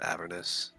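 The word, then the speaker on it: Avernus: book that he read isn't it pronounced averness yes is actually the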